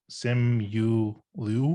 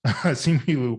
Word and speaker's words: Simu Liu: Sim Yu Liu, is that how you pronounce his name? Was it the video said it's Simu Liu? Yeah, Simu Yu. What? Sorry, I'm sorry, Simu Liu.